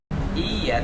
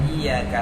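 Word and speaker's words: إِيَّاكَ: Soalnya kalau tanpa tasydid bukan iya tapi bacanya iyyaka na'budu wa iyyaka nasta'in.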